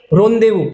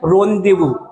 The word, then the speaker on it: rendezvous: रोंदेवू, इसकी स्पेलिंग तो आपको हर हाल में याद करनी है, इसकी स्पेलिंग हर हाल में RENDEZVOUS, रोंदेवू।